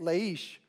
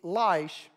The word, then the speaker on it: Laish: Hebrew and that is the city of laish l-a-i-s-h in Hebrew is life we typically would say it leish but it would be lice from the Hebrew culture